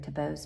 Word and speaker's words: Thiebaud: Tabau's painting, but um I will write out his name, how you spell it.